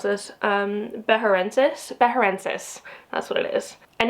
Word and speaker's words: beharensis: So this guy here, this is a Calancho, oh gosh, I can never pronounce this, Beharensis, that's what it is.